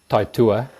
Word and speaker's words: Taitua: The pronunciation is Taitua. It's a New Zealand Maori word.